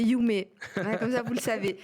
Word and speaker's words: Yume: Donc c'est pas Yumi, c'est Yumée.